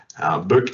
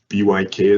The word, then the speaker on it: BYK: Buch, as it's pronounced in Germany, BYK as it's pronounced in most of the rest of the world.